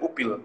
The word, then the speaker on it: Oepil: Opil kalau ejaan nama kan bacanya jadi Upil, Cap. Upil, betul. Memang saya maunya dipanggilnya Upil, bukan Oepil.